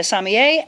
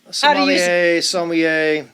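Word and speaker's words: sommelier: Craig is joining us Craig is actually a samier at Clayton wine house and that is how you say it correct samier not Somali there's multiple pronunciations salier yeah definitely not that one somier how do you say what you are French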